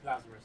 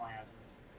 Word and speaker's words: Lazarus: It's Lazarus, not Iazarus.